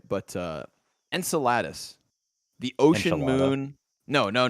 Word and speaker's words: Enceladus: here right but uh enceladus the ocean moon no no no no not enchiladas enceladus the ocean moon of saturn have you